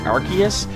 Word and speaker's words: Arceus: I just said Arceus, despite the fact that I prefer to pronounce it Arceus, because it sounds like archaeology, like ancient, olden times kind of thing.